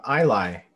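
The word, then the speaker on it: Ilay: know their name what's their name michael uh i lie um so it's uh i-l-a-y um kind of taking inspiration uh it's not pronounced the same but the letters are kind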